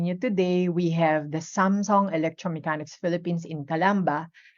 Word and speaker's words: Samsung: And also the Samsung, di ba? We used to call it Samsung, but in reality, it's called Samsung in Korea, no? Samsung, something like that.